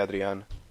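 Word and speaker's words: Adrián: to the end or Adrian however you want to say I say I just say Audrey on because that's the the proper way to say theme but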